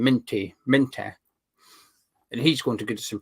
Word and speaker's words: Minteh: I don't know how it's Minty or Minter, or I don't know how you pronounce it right, but that's how you pronounce his name, Minter.